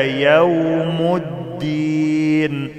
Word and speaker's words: يوم الدين: ويلنا يا ويلنا هذا يوم الدين يوم الدين الالف واللام ما بيتنطقوش ما اقولش يوم الدين خطا يوم الدين وقالوا يا ويلنا هذا